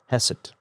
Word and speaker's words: hesed: We talked about Jehovah Hassid. Hessid. Got to get that right because it's Jehovah. It all depends on how you spell it. uh the Hebrew way with c h e s e d or uh in some